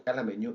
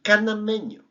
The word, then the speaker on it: canameño: Lo que pasa es que es una mala pronunciación. El melón se llama melón canameño.